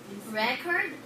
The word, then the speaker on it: record: or a verb esther record record one more time record so the stress in the first is on the first syllable is the word record